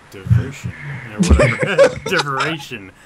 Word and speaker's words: Derivation: Derivation. It's like inspiration. Derivation, right? It's No. like, Close. it's like saying inspiration with a D.